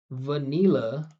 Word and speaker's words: vanilla: So, right, we did hear one vanilla, but we heard much more vanilla. So, in this case, I would say it's best to use N. It's more common, right? And you can see there's two schwas.